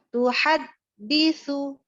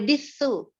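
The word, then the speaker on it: تحدث: Ini dalnya bertasydid. Terus lihat yang pakai alif-alif panjang ya dibacanya. Coba lagi. Tuhaditsu akhbaroha. Tuhaditsu. Nggak boleh disu.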